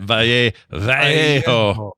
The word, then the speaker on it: Vallejo: Vallejo.